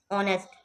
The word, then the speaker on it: honest: ऑनेस्ट, HONEST, ऑनेस्ट, ईमानदार, इसमें एच जो है ये साइलेंट है, इसकी साउंड नहीं आएगी।